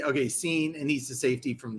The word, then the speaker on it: Cine: Cine is pronounced Cine, and he's the safety from Georgia.